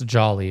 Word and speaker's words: Jolie: Jose, remember Jolie with one L, my brother. Um, that's jolly, which is literally how I was pronouncing it for 2 months.